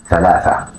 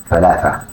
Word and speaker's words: ثلاثة: But in Arabic ثلاثة ثلاثة ثلاثة.